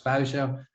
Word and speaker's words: Vuijsje: So if you wonder, that weird last name that is pronounced as Vuijsje, a very Dutch last name.